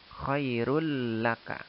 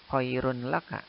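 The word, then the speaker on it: خَيْرٌ لَّكَ: dihukumi dengan Idgham bilagunnah maka cara membacanya adalah Hai huruf yang berharakat tanwin tadi lalunya dimasukkan ke huruf lam Choirul laka Jadi bukan Khairun laka tapi runpanu nya dihilangkan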